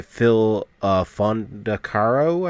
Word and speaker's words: Fondacaro: So while he's in the strip club, he's met with a club patron who's played by Phil Fondacaro, I believe is the way to pronounce his last name.